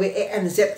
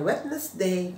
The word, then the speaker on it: Wednesday: Tapi yang betul adalah Wednesday, kayak WENZ gitu loh, WENZ, Wednesday gitu. Jadi bukan Wednesday gitu ya. Wednesday, D-nya hilang, jangan dibaca D yang wet